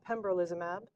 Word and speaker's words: pembrolizumab: One of the challenges of checkpoint blockade is pronouncing the medications. So it's ipilimumab, nivolumab, and pembrolizumab.